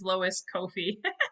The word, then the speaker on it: Lois Koffi: had my name said wrong and i've said butchered names wrong so many times it is lois kofi but you're okay but it's funny because i